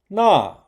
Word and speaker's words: 那: This is the meaning of 那 to help remember the pronunciation of 那 you can think of the first syllable in the place name Narnia from C.S.